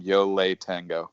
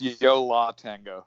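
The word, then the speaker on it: Yo La Tengo: And also, I guess this is probably my OCD, but you need to stop saying Yole Tango. I don't know how to say it. How do you say it? It's Yola Tango.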